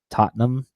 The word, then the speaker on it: Tottenham: He at least follows soccer, and he said it's pronounced Tottenham, and that's his favorite club team.